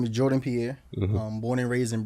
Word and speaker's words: Jordan Pierre: we are here man we back with Jordan Jordan Pier is am I pronouncing that right yeah okay solid solid listen